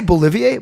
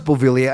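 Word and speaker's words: Beauvillier: a teacher and vice principal did I say bolivier bauville clay you're the first person I heard today fourth person at her day pronounce it Bolivia why do I keep saying bolivier no I know it's bovilia I know it's a b-a-u-b-e-a-u-v thank you Ricky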